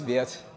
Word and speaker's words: Viet: uh my name is Viet um if you don't know how to pronounce my name is Viet as in Vietnam so hopefully that's that